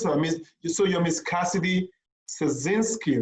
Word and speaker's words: Szarnicki: No, I mean the S is silent.